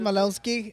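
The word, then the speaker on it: Maloney: this guy Joseph maloni that's how you pronounce it maloni uh he had over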